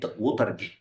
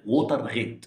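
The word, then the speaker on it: ووترغيت: تاريخ امريكا وهي فضيحه وتر جي او احيانا بتتنطق وتر غيت وتر غيت زي ما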